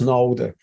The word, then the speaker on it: Knowde: through or introduction so what is node uh pronounced node note it's a B2B Marketplace